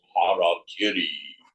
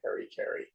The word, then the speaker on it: harakiri: Swamiji used to say, commits harakiri. You in America call it harikiri. I don't know how the Japanese pronounce it.